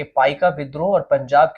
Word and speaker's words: पाइका: पाइका विद्रोह ऐसा ही एक विद्रोह था। पाई का उच्चारण पाइको, जिसका शाब्दिक अर्थ है